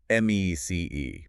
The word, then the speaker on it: MECE: MECE, pronounced MEC.